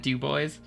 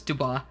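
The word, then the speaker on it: Du Bois: I was mentally pronouncing that dub boys. No, it's Dubois.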